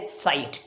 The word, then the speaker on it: site: दोनों की जो प्रोनाउंसिएशन है वो सेम है, साइट।